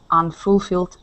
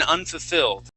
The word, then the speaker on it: unfulfilled: So we kind of bounce through those two F's instead of really pronouncing that U in the middle there.